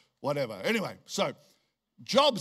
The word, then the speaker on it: Job: In Job, I was going to say job, praise God. Get a job, praise God, all right. How many of you cannot work out why it's spelt job but said Job?